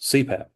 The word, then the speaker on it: CPAP: see a lot uh may be pronounced as a word such as CPAP actually stands for continuous positive pressure we'll talk about that when we get into Airway but it's pronounced CPAP so you have words